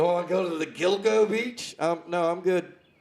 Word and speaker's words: Gilgo: Uh the alleged Gilgo. Gilgo. Is that how it's pronounced? G I L G O. Gilgo.